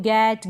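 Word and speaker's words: get: together एक साथ तो ये together टारगेट give गेट girl finger ये जो स्पेलिंग्स हैं इनके इनमें क्या हो रहा है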